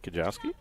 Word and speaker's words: Kajowski: I'm going to check to make sure I pronounce that somewhat correctly. Hitting for Ashland, number 24, Kate Kajowski. It is Kate Kajowski. My instincts were correct on that one, so Kajowski will step